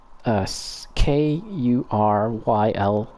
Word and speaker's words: Kurylo: I can't really pronounce that properly, but it's Kuryo.